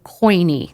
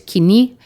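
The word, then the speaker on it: Koine: world was speaking Greek and they were speaking coiny. That's how it's pronounced in English. In Greek, it's kini.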